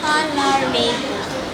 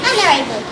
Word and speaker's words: honorable: Number 3, do not say honorable, rather say honorable.